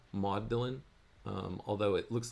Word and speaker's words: Magdalen: I understand at Oxford modelin is how they pronounce it uh sounds a little bit like m a u d e uh like the name mod and then Dylan mod Dylan um although it looks